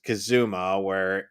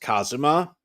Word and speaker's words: Kazuma: They pronounce it as Kazuma, but in reality that name would be pronounced Kazuma.